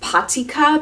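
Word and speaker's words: Patyka: I'm very interested in I think it's pronounced pot Sica PA tyk a it's a parisian eco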